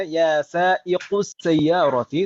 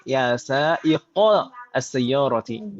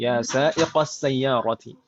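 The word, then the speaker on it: يا سائقَ السيارةِ: Kita tidak boleh membacanya ya sa'iqus sayyarati, tapi harus mansub ya sa'iqa as-sayyarati. Ya sa'iqas sayyarati. Begitu Ibu ya?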